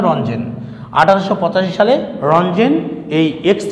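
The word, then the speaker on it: Röntgen: আমরা জানি সবাই 1885 সালে উইলিয়াম রঞ্জেন, হ্যাঁ 1885 সালে রঞ্জেন, এটাকে রন্টোজেন বলে অনেকেই, কিন্তু আসলে উচ্চারণটা রঞ্জেন।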